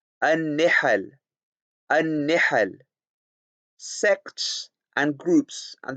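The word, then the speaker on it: نِحَل: The correct pronunciation given here is al-faslu fi milali wal-ara'i wan-nihal. An-nihal, an-nihal, an-nihal, an-nihal.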